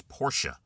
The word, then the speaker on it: Porsche: Uh Porsche is not Porsche. Anywhere you go. Porsche is not. It is Porsche. Porsche is the name of the company. It's two syllables.